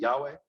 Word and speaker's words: Yahweh: Yud He Vav He, Yehovah, or as some pronounce it, Yahweh.